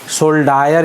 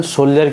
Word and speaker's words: soldier: तो देखिए सोल्जर जो है स्पेलिंग है SOLDIER, सोल्डायर इसको अगर उच्चारण कीजिएगा तो नहीं, लेकिन इसे इसको उच्चारण सोल्जर कीजिए।